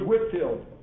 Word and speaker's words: Whitefield: was a guy named george whitfield pronounced spells whitefield educated in oxford he